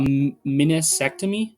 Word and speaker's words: meniscectomy: But if he got and I might mispronounce this here, sorry, a meniscectomy. So think like vasectomy, but meniscus at the start, right?